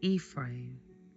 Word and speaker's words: Ephraim: So, I just wanted to correct some of the names that I mispronounced, which are Potifera, Manasse, and Ephra. Joseph's firstborn Manasse and his second born Ephraim and the priest Potifera.